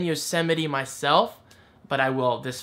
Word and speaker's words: Yosemite: the correct way, because at first I was saying Yosetime, like Yosetime. But then I was thinking, wait a minute, and before the T, Yosemite.